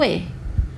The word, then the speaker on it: es: The spellings are different but the pronunciation is same.